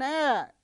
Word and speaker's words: heir: an hour an honor an honest man an air an heirloom in all these five words the